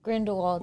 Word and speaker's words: Grindelwald: Grindelwald, yeah.